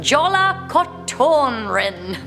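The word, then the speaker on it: Jólakötturinn: scary we have the legend of correct my pronunciation jolla cotton rin good thank you iceland so yeah beware jolla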